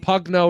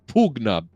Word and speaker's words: Pugna: It wasn't Pugna or anything like that. It was Pugna.